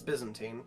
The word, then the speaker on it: Byzantine: Excuse me, for English, for my English people, Constantine or Byzantine. It's Byzantine, please. Constantinople, Byzantium. It's Constantine and Byzantine.